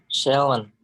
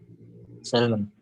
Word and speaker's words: salmon: Salmon. Salmon. Salmon Alperisi. Oke. Salmon ya. Andri. Salmon. Oke, salmon kan ya. Oke, L-nya tidak dibaca ya.